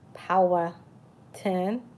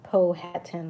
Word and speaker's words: Powhatan: so you say power 10 like more like a power a power plant power 10 instead of Po hat 10 like a lot of people saying it's not Powhatan and Manhattan is not